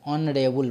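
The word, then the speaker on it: honourable: किस तरह से पढ़ पहले न रेबल पढ़ते हैं न रेबल ठीक है तो यहां पर एच का उच्चारण साइलेंट होता है ओ का उच्चारण से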